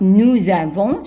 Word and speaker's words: nous avons: And of course, we have the liaison. And the S at the end is silent. Now, when it comes, so nous avons, and also the emphasis is not at the end. It's on in the middle of the two words.